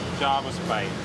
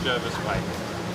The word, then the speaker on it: Jervis Bay: It is actually Jarvis Bay, not Jervis Bay. So we had a parliamentary sitting, and it was decided the proper pronunciation was Jarvis Bay.